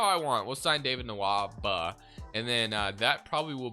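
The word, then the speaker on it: Nwaba: we could go david nawamba here nawaba david nawamba i always say this guy's name wrong because i wish try to put an m in it for whatever reason so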